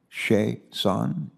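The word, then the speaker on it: Chiasson: to get this right your name is spelled c-h-i-a-s-s-o-n and phonetically i'm told it's pronounced shay son is that correct that can't be correct what kind of name is that it is a french name okay and the pronunciation is on that last syllable huh that's all thank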